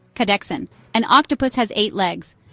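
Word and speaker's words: kahdeksan: an kadex means eight say k like car really fast then say Dex like the beginning of dexterity then a soft an cadex an octopus has eight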